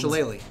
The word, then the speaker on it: Shillelagh: Shillelagh. I never knew how that was spelled. Yeah. A lot of Irish words are like that. Where they're just like not even close to how they're pronounced.